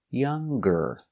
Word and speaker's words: younger: with no G young but if I compare and I put e r younger I use the G sound younger she is younger than